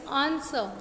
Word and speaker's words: answer: Next is आंसर. इसमें भी जो W है ये साइलेंट है.